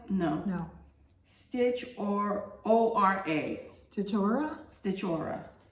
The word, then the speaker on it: Stitchora: Stitchora? Stitchora. Stitchora.